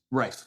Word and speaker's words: Rife: Is it Rife or is it Reed? Rife.